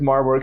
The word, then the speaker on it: Maribor: Sounds like Marlboro but it's actually a city. Mari-bor is how you say it Yeah.